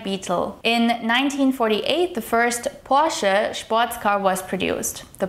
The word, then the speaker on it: Porsche: This brand right here is pronounced Porsche. Not Porsche or Porsche, but Porsche.